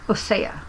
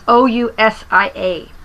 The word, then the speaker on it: Ousia: So another word that's important, just because I want to put that out there, is, I probably pronounce it, it's Ousia. Ousia. It's Ousia.